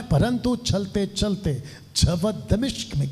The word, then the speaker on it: दमिश्क: इसका ये जो सफर था दमिश्क, अभी तक हम लोग कुछ और बोलते थे, लेकिन ये राइट प्रोनाउंसिएशन है दमिश्क और दमास्कस, ये इसका इंग्लिश शब्द है दमास्कस।